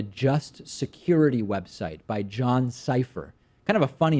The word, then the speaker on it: Sipher: on a security website whose last name is cypher like decipher even though it's spelled differently si PHP are John ciphers a former CIA senior